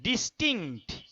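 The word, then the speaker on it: distinct: আমি লিখে দিচ্ছি দেখো, dish, T আই এন সি টি, ডিস্টিংক্ট, টিংক্ট, ডিস্টিংক্ট, ডিস্টিংক্ট, সিতে একটা ধাক্কা, টিতে গিয়ে থামতে হবে, ডিস্টিংক্ট, ক ক মানে একটা ক হালকা একটা ক একটু গভীর, ডিস্টিংক্ট ফ্রম, ডিস্টিংক্ট ফ্রম।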